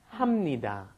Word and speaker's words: 합니다: It looks like you should be saying 합니다, but that's, once again, I'm having trouble pronouncing it. 합니다. So you end up saying 합니다.